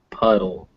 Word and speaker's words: puddle: Whether or not they're written with a D or a T, they're going to sound like dull. So beetle, paddle, battle, puddle. They all end the same.